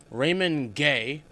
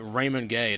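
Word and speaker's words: Raymond Guay: Raymond Gay. And yes, that is how you say his name. The commentary or At least that's how commentary says it. Unless commentary is wrong, but Raymond Gay, that's how you say it.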